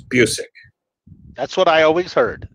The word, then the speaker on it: Busiek: Probably Busiek. But my name has been pronounced many, many ways over the years. Tell people the actual real pronunciation of it. It's Busiek.